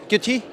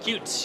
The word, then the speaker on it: Qt: Quality QT? Cute, yes. Cute, QT, either one works. Cute? Cute, yes. Either pronunciation.